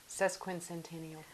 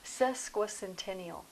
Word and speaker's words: sesquicentennial: you can say sesquintennial no you said it wrong sesquin centennial that's what i'm talking about